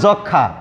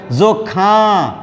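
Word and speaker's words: যক্ষ্মা: এখানে উচ্চারণ করতে হবে যক্ষা, মানে এটি মফলা নাসিক্য ধ্বনি, তাই এটি চন্দ্রবিন্দু দিয়ে মানে নাসিক্য করে উচ্চারণ করতে হবে।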